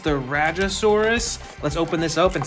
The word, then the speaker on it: Rajasaurus: I believe it's pronounced the Rajasaurus.